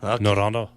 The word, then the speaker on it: Noranda: And the first one we're going to do, Metal Mike, you're going to have to help me with the pronunciation on this. They're from Rwanda. Noranda.